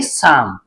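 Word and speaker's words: psalm: L silent रहेगा काम पी एस ए एल एम अब देखिए इसमें पी भी साइलेंट रहेगा और एल भी साइलेंट रहेगा इसे हम पढ़ेंगे साम इसके बाद आगे है बी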